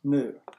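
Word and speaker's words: nu: Looks like a V, but it's pronounced new, where E is the energy, H is plank's constant, and new is the frequency.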